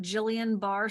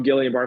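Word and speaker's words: Guillain-Barré: Can it help with I never pronounced this right like I want to call it Jillian bar syndrome oh gilan bar syndrome um I me that's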